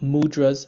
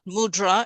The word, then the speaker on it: mudra: It's not mudra, it's mudra. The is a soft.